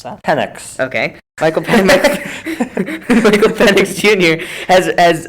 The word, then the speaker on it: Penix: And UW quarterback Michael, how do you pronounce that? Penix.